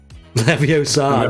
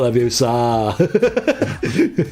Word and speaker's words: Leviosa: Leviosa, not Leviosa.